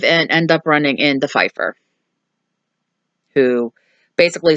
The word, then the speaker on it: Pfeifer: to Pipe Pfeiffer Ella I keep on and say pipe Pfeifer cuz it PF i F er but the P silent I keep mine to